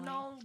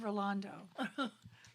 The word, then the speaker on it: Ronaldo: Ronaldo. Oh. I said your name wrong. I said Rolando.